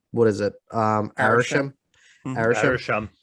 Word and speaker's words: Arishem: are taken away by I always pronounce his name wrong. What is it? Arishem.